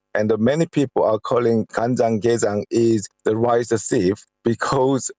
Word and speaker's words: kanjang-gejang: You mentioned several ways of using the blue crab in food dishes, but there's one dish that I will now mispronounce, which is kanjang-gejang?